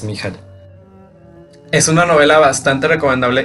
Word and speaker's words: Michael: narrador Mel ende y se pronuncia Mel porque es un escritor justamente de origen alemán no inglés que de repente he escuchado que pronuncian su nombre como si fuera Michael y no es Michel es una novela bastante